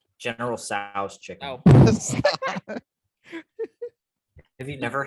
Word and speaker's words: Tso: How do you freaking pronounce that? To sauce? General Tso's chicken.